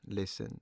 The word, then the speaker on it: listen: Listen.